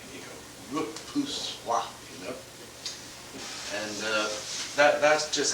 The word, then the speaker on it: repoussoir: Then there's another little dark in the foreground that we call a repoussoir. That's pronounced correctly. You go, repoussoir, you know.